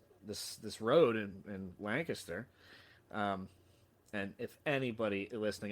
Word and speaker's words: Lancaster: Um, and finally, my wife, we were driving down this this this road in in Lancaster. Um, and if anybody listening ever comes here, it is Lancaster, not Lancaster.